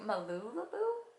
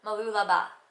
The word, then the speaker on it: Mooloolaba: face prominent when I went to malulu no no Mooloolaba which is the city